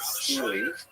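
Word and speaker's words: stele: And when he gets to the north, one fascinating thing that he records in this big stone obelis called a steely pronounced steel left behind a record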